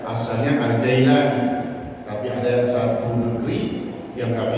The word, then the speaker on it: Al-Jailani: Berkata Sayyidi Syekh Abdul Qadir Sayyidi Syekh Abdul Qadir Al-Jailani, ada yang membacanya dengan Al-Kailani karena ada satu daerah tidak bisa mengucapkan huruf jim sehingga dia mengucapkan dengan diganti dengan kaf ya, asalnya Al-Jailani, tapi ada satu negeri